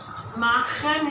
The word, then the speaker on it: machen: For example, if I say this verb, the verb machen. Machen is to make. To make or to do. So I will have to speak it from the, I will write from the throat.